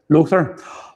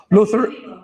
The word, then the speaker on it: Lothair: So, Lothair Avenue, is that again is that pronounced correctly? You say what? Lothair. Lothair.